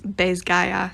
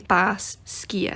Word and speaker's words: Basgiath: I'm not too bothered about the way she pronounces Bezgaya, but if you were pronouncing it like a Gaelic speaker, you would say Bas Skia.